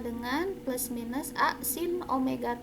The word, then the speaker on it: omega: Omega frekuensi sudut, ini dibacanya omega ya, jangan W ya.